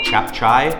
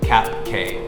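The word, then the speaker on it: cap cay: to note here about chef chai it's not pronounced cap K anytime that you see the letter C in bahasa it's going to be a CH sound pitch sound pretty much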